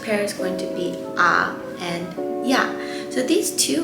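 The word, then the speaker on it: ㅏ: as your tongue so when you go to the dentist or the doctors they ask you to say ah that is how you say this vowel ah and then for this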